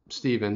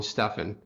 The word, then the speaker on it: Stephen: as you guys know my first name is spelled with a pH and that's pretty bad because I don't think anyone's pronounced that Stephen they'll call me Stefan and so I'll be